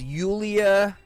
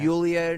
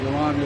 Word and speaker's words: Yulia: All right, so her name is Yulia. Like Julia, but yes, pronounced Yulia. Yulia Navalny, right?